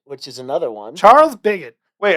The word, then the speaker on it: Pigott: So today our guest is Charles Pigott. I should have checked off air if that was how to pronounce it, but it is, right?